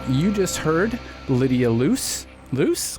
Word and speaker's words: Luce: Luce? God, did I say it wrong already? No, you nailed it.